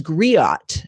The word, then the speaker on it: griot: so we'll ask about that uh it says griot is that the correct pronunciation of that betty great so she is